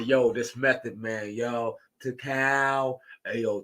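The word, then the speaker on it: Tical: Yo, to cow. Hey, yo, tell her to say it right, man. There's no G at the end.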